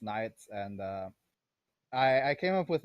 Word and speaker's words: Naietz: All right, so for the record, it's pronounced Naietz, and I came up with it because it's an anagram of my full name.